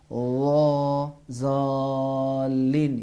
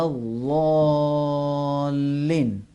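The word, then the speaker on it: الضالين: پہلے حرف زوئی کے لہجے میں غیر المغضوب علیہم ولا الضالین. ضالین یہ غلط ہے، صحیح نہیں ہے. غیر المغضوب علیہم ولا الضالین اس طرح پڑھنا بھی صحیح ہے.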